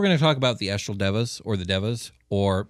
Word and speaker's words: Deva: talk about the astral Devas or the Devas or the correct pronunciation is divas yeah I was gonna